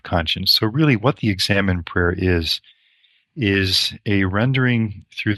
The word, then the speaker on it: examen: Now, this word examine itself is just the English pronunciation of the Spanish word that St. Ignatius used for this form of prayer, examen, in the Spanish, and we just say examine.